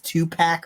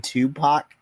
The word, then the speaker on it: Tupac: to pronounce it by his name is two pack or something like that I'm like you mean Tupac as in Tupac's decor